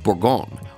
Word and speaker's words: Bourgogne: actually pronounce this word borgon or sometimes B dropping the last syllable instead of saying the English pronunciation Bon this is the